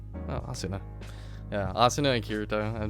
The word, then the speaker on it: Asuna: I thought you said Asune. I'm like, that's not her name. No, Asuna.